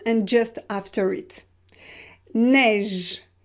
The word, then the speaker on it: neige: Neige, neige. You can hear that the last sound is j. It is not e, it's j. So neige, we pronounce it e, open, neige.